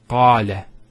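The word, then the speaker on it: قال: Notice the elongation of the A sound. Qala. Not qala, qala. So we have the fatha on the qaf, followed by the alif.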